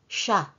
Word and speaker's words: siya: matalino pero mabait din siya he siya youl notice when you talk to Filipinos we sometimes pronounce the word siya as simply shya that is perfectly fine Smart matalino kind mait